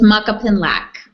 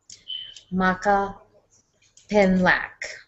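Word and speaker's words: Makapinlac: high and clients and tamasa help me pronounce your last name because I want to make sure that I pronounce it correctly it's Maka pinlac okay awesome Maka pinlac beautiful I want to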